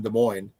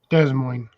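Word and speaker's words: Des Moines: for the ones in de mo des Mo it's de Mo the ass is silent de Mo D Dar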